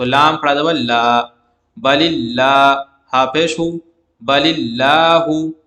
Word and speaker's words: اللہ: یہاں بھی اللہ کے لام سے پہلے زیر آئی ہے تو جو ہے باریک پڑھیں گے، اللہ کو، اللہ کے لام کو باریک پڑھیں گے.